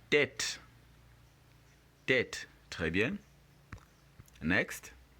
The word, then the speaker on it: tête: This A here, or this E right here, of course, makes the A sound, not the A sound. So take note when you're pronouncing the word. We have tête.